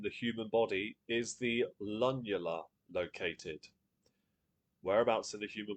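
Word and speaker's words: lunula: Lula. That I mean, that's how I've always pronounced it and I've never been corrected. Lula. I I can't think of I can't think of another way to say it. So that's that's what I'm going with.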